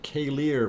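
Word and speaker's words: Keilir: Okay, Dina, K-Lear. Okay, I will pronounce it K-Lear from now on.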